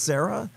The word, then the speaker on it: Syrah: that said, I heart Syrah on my car. And people would say to me, seriously, 16 years ago, they would say, oh, is that your daughter's name? Is it pronounced Sarah? Yeah, exactly.